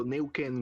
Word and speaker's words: Nuequén: word from chile yeah actually it's um so new can groove that's the pronunciation and it's actually from the mapuche tribe